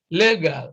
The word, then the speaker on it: legal: This is legal, legal, legal. So stress is on the first syllable here, unlike A, B, and C that have stress on the second syllable.